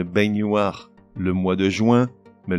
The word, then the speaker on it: baignoire: Une baignoire, mais une baignoire.